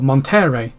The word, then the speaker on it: Monterrey: Coahuila, and she's like, in the part of California up here it's called Monterey, but down here it's called Monterrey or something like that, and you pronounce the two actually differently because one's in Spanish and one's in English.